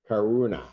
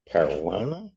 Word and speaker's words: Caruana: I know why that is, because we're trying to put syllables together that don't belong together in our name. That's why we're pronouncing it the wrong way. Yeah, the R and the U are kind of a separate thing.